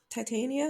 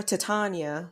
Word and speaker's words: Titania: you pronounce her name Titania yeah Titania yeah yeah I keep caught wanting to call her to Tanya when I see her name I went to school